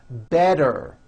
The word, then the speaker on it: better: So if a letter T falls between 2 vowel sounds, which are voiced, so if it falls in the middle of vowels, then the T is pronounced as a D and the whole word is voiced.